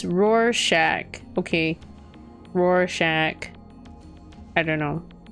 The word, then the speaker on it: Rorschach: not nutty dread also it's pronounced rorschach okay rorschach i don't